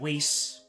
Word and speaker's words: Whis: Unless you unless you can um unless you don't remember every single time I've said Weiss instead of whis or um Weiss.